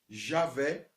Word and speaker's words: Javé: acrescentadas duas vogais é no oriente chamava-se o pronuncia-se javé o heavenly ok eu quero que você entenda